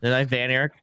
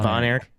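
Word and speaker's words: Von Erich: Van Eric rather than Von Eric?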